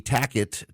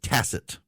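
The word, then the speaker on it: tacit: it the entire time because I'm an American and most Americans say tack it they don't say Tac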